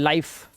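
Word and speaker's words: life: अब इसे लिफ नहीं पढ़ना है। लाइफ फिने नहीं गलत।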